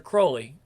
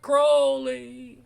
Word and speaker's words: Crowley: We have a meeting with Mr. Crowley. Rhymes with Fowley. Unlike dear old Alistair, who was holy. Right. Okay. Yeah, remember, it was Crowley, even though Ozzy said, Mr. Crowley, it's Crowley.